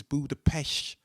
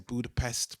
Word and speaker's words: Budapest: um i think the the right way to say is buddha pesh yeah s is a sh but i just say budapest because like i say a buddha i say budapest budapest yeah because i don't